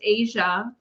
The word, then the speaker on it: Aja: The next package is from Aja. Why she's It's pronounced Asia Hildebrandt from Comstock Park in Michigan.